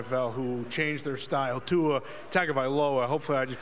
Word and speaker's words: Tua Tagovailoa: quarterback in the NFL who changed their style, Tua Tagovailoa. Hopefully I just pronounced that right.